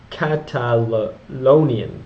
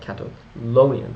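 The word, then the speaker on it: Catalaunian: forces at the Battle of the culian Catal catalonian Plains I think I've been pronouncing that wrong but Catal lonan but not like catalon but c a t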